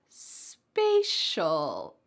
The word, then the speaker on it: spatial: And at the beginning of the second word, we have an A sound, spatial. Let's put both of these words together in a challenge sentence.